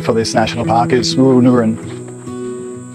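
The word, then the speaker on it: Wooroonooran: And the way that the correct pronunciation for this national park is Wooroonoon. Wooroonoon.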